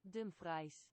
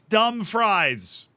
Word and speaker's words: Dumfries: Dumfries. That's how you say it, chat. I was freaking right. Dumfries. It's dumb fries.